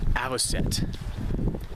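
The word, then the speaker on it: avocet: It turns out that weird bird at the Grand Prismatic Spring was an American aviset. A V O C E T. Pretty sure that's how it's pronounced, but that's a lifer.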